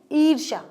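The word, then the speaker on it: ईर्ष्या: लगाना है क्योंकि ये दीर्घ स्वर है और दीर्घ स्वर में ईर्षा ईर्षा नहीं ईर्षा ठीक है ऐसे आपको उच्चारण करना है विरला विरला क्या होता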